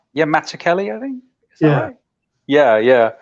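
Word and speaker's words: Mazzucchelli: Kelly I believe it's actually he pronounces it with a hard k oh like Matt matzo Kelly isn't it someone like yeah Mata Kelly I think yeah yeah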